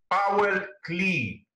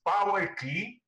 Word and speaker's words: Paul Klee: artist, whose name is, I suppose in German, the right pronunciation is Paul Klee, I suppose. Maybe someone will correct me if I'm wrong. So it's Paul Klee.